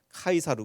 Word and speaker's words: 카이사르: 틴 어른은 카이사르 줘 어 락 틴 어 발음으로 하면 카이사르 고 영어로 하면 그게 이제 씨저 가 되고 옛날 한국말 우리 한국말 성경에는 가